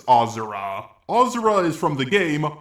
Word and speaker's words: Asura: who I've been calling ashur for the longest time but after replaying the game yeah it's actually pronounced ozer ozer is from the